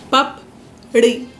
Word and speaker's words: papdi: And you basically just take your tongue back and you flick it like ra, ra, pap, ri. That's how it's said.